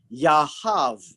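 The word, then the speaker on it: יהב: And it is closely related to H3051, yahav, right? And same, this one here, the bet is actually pronounced as a V instead of a B.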